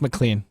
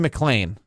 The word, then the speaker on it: McLean: develop McClain northeast and they spell it exactly how they do not they spell Lal like Lane LA any that's McLean trust me I've never